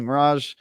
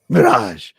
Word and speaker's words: Mirage: Yeah, I've been playing AC Mirage, Cyberpunk. You just said it wrong. Mirage.